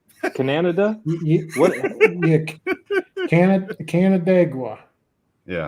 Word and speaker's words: Canandaigua: Is it Canandaigua? Canada? What? Yeah, Canandaigua. Yeah. Canandaigua.